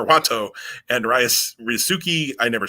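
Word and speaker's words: Wato: the champions defend against master watto not vato it's not hispanic jim it's japanese master watto and rice rizuki i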